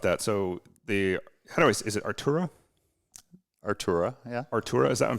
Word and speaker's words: Artura: Artura, yeah.